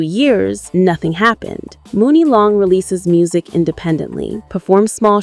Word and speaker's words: Muni Long: She rebrands as Mooney Long, pronounced money long.